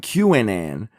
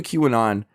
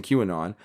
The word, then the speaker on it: QAnon: Ann and help me he pronounced Q Anon qnn because he was that new to the movement he was so new to Q Anon he didn't even know how to pronounce the name of it correctly and yet he took